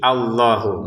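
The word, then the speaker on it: الله: Nah, di sini ta Allahnya tidak ada harakat fathah ya di atasnya alif tapi kita bacanya a gitu ya. Karena memang ini termasuk hamzatul wasal yang kalau tidak disambung dengan yang sebelumnya dia harakatnya fathah ya. Jadi Allahu gitu.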